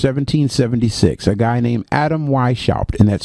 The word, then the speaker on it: Weishaupt: but may 1st 1776 a guy named adam y shop and that's spelled h w-e-i-s-h-a u p t adam y shopped okay adam weishaupt was the